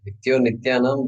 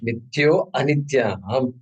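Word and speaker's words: नित्योऽनित्यानाम्: That Nityo Nityanam, the way we pronounce it, but there is a letter A there in between the two. I think you recognize that. All right, Nityo Anityanam.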